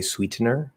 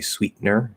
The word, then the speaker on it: sweetener: stop it and say sweetener sweetener so we'll do the stop t to the syllabic n uh like in mountain